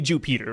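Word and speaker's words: Ju Peter: his name wrong but his name is actually Jew Peter right they space out the Jew they space out the Peter and I think it's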